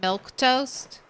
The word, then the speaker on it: milquetoast: because I'm like it looks like you would just pronounce it milk toast.